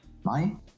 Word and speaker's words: Mai: All 3 are pronounced as I. 17. Mai, the National Day of Norway.